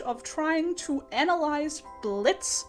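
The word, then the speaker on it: Blitzø: trying to to analyze Blitz the O is silent I was working on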